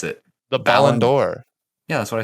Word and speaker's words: ballon d'or: better than ronaldo yes i agree okay seven blonde doors so how you pronounce it i've never known did you just